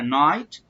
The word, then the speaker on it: night: يبقى الجي والاتش سايلنت في الكلمه لا ينطقون، انطق بس مين؟